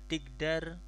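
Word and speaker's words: تقدر: Kemudian banyak persamaan seperti ini, bisa yumkin, bisa tigdar, takdiru gitu, takdiru, taqof dalro, cuman dibacanya jadi tigdar dengan kasroh.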